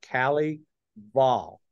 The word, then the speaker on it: Kelley Vahl: I'm gonna say that your name is Cali ball is that correct that is correct thank you for pronouncing it correctly man there we go